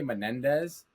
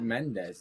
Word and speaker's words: Mendez: People say Menendez. And it's like, I don't know where you had the extra syllables. Those were those twins. You don't want that. Mendez. It's 2 syllables. Yeah. It's Mendez.